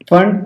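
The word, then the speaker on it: Pfund: इसके बाद आ जाएगा आपका फंड, पी साइलेंट रहता है, पी फंड भी आप इसे पढ़ सकते हैं, फंड series, and then Humphry series.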